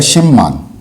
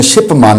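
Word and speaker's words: 십만: तो ये आ जाएगा शिममान, इसको प्रोनाउंसिएशन में तलफ़ुज़ में शिपमान नहीं कहते, शिममान, शिममान।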